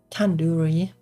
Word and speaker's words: tandoori: five year years old you could have just sit like the two in due date Tandoori Tandoori but now I